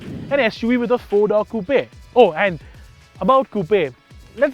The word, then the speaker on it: coupe: SUV with a four Coupe Oh and about Coupe let's get this very clear straight off the bat right it is coupe not Coupe like the Americans say koops are to put chickens